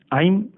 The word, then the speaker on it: ऐं: कहने से आप आई एम ज पी यह आई एम शुद्ध उच्चारण है शांत रूप से यह जागृत हो